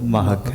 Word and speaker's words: مہک: نا وہ زبر ہے، لیکن چونکہ یہ اب ایک مستعمل ہو چکا ہے تو اس لیے میں آپ کے نمبر تو نہیں کاٹ رہا، لیکن جو ہے نا اس کا جو اصل تلفظ ہے وہ مہک ہے.